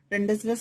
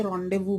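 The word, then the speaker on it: rendezvous: अब word रेंडेजवस means, रेंडेजवस को वैसे रॉन्डेवू बोलते हैं बोलचाल की भाषा में। एक अभिनेत्री हैं सिमी ग्रेवाल,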